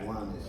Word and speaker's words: Kiwanis: Kiwanis.